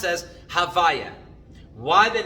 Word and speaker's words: Havaya: The name Yud Kei Vav Kei, which we like to pronounce as Havaya.